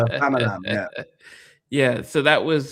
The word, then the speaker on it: Famalam: My mum's like, oh, I watch Famala. Famala. No, it's a Famalam.